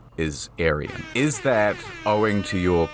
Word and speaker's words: Aryan: It's pronounced Aryan. Persian.